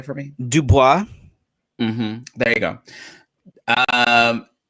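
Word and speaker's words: Du Bois: black history uh i always say this last name wrong can you say for me dubois mm-hmm there you go um mr dubois uh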